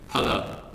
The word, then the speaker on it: challah: Okay, this word I'm going to say first, and then you're going to repeat after me so that you pronounce it correctly. Challah.